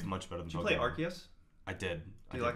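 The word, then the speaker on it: Arceus: I told you I told you it was arus what the are you doing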